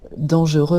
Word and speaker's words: dangereux: Donc, ils ne sont pas dangereux, hein, dangereux, masculin. On prononce pas la consonne finale.